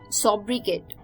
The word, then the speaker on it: sobriquet: तो चलिए इम्पीरियस के बाद जो 10th वर्ड है शाम का वो था एक और अच्छा word, sobricate, sobricate, sobriquet, sobricate, sobriquet, sobricate यानी कि a familiar name for a person, often a shortened version of person's name.